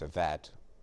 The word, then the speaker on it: Avett: Avett rhymes with Corvette.